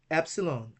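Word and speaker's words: ἒ ψιλόν: Epsilon is pronounced like E in bed. So the sound is eh.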